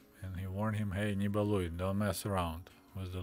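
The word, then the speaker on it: Не балуй: Here we got another nicely done poster called Nibaluy. One of my favorite verbs in Russian language, Nibaluy, because it rhymes with word hui.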